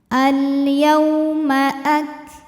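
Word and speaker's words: الْيَوْمَ: Yau ada harfulin atau huruf lin, sebab ada waw sukun yang sebelumnya baris fathah, maka dibacanya lembut. Al-yauma Nah, ini huruf kaf,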